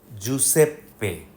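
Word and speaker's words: Giuseppe: জিআইইউ হলে জু, জুসেপ্পে। জুসেপ্পে তোর্নাতোরে।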